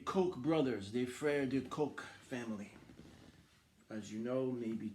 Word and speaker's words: Koch: C'est concernant du politique de Michael Bloomberg et des Koch brothers, des frères de Koch family.